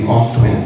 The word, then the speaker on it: Aungthwin: My name is pronounced Omthwen. It's pronounced without the G.